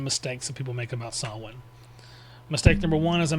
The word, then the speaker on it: Samhain: that people make about sawin. Mistake number one, as I mentioned earlier, it's the pronunciation. It's either sawin or sawin, depending on cultural and linguistic differences, not Sam Hayne.